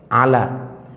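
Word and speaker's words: على: Kalau ya-nya nggak ada titiknya, bacanya beda, Pak. Ala. Kalau ada titiknya, Ali.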